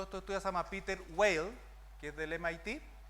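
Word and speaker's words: Weill: Sí, ese, Peter Whale. Muy bueno. Whale, W-E-I-L-L, Whale, tal cual suena.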